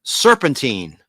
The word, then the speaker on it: serpentine: Beware Serpentine. It's a serpent. Serpent. Serpentine. It's probably serpentine, like rhymes with turpentine.